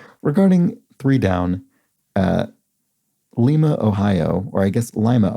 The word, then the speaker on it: Lima: they said lima ohio pronouncing lima like the bean thinking back to a